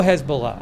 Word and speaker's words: Hezbollah: oh I guess so I'm seeing Hezbollah I'll go Hezbollah I'm seeing more of Hezbollah pronunciations we're going to do that anyways I'll go with that hasah and uh then